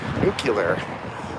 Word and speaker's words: nuclear: Anyways, nuclear. It's pronounced nuclear.